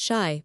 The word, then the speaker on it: Chi: Kai pronounced shai by the way is the argo for Chicago.